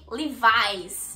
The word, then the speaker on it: Levi's: Bom, como vocês estão percebendo, não se pronuncia Levis, e sim Levi's. Levi's. Enfim, é Levi's, é bem diferente.